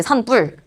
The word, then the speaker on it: 산불: 근데 너네 이거 산불이라고 해. 어, 산뿔이라고 하지. 산뿔. 된 소리로 발음이 되고 있는 거잖아. 사인소리 현상이 일어났어요.